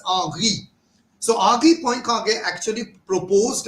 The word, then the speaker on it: Henri: This was Henri Poincaré who first, it is written as Henry, right? In French it is pronounced as Henri.